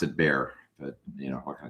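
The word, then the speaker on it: Bexar: It It spelled B E X A R, but it's pronounced it Bear.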